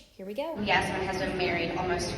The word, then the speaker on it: Yasmin: And this is your contestant number 2, Miss Yasmin. Side note, my name is not Yasmin, it's Yasmin. Yasmin. That's how you say it.